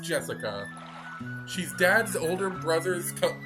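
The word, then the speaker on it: 朱志香: this english before anyway blue blue blue is pronounced jessica she's dad's older brother's cup daughter that older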